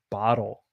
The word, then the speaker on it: bottle: say it like that we change the two t's into a d and we say bottle this is a bottle